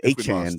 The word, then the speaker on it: Achane: You get Devon Achane back.